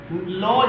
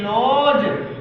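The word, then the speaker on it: lodge: लॉज, LODG लॉज, budget लॉज, ये ध्यान रखना पड़ेगा हमको।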